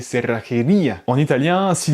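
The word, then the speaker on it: cerrajería: tu vois ce mot-là, on le prononce pas serajeria avec la prononciation française, mais cerrajeria, avec le J qui est prononcé R et le double R qui est prononcé R. Et même l'accent sur le I qui montre qu'il y a une accentuation sur le I, c'est cerrajeria.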